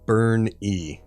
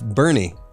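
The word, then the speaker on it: Burnie: it says oh yeah it's pronounced burn e there that's great NOP not boring it's Bernie but whoever did the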